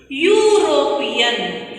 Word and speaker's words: European: Though it is started with E letter, this is not considered as vowel sound because you just pronounce it. European. Here also the sound comes as U sound will come.